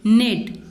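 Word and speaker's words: knit: के एन आई टी, यहाँ पे के इज साइलेंट।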